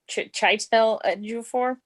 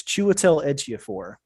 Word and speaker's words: Chiwetel Ejiofor: I know I'm gonna say his name wrong. I would have to. Whatever, something Ejiofor. Chitel Ejiofor. I'm going to give it to you. It's Chiwetel Ejiofor.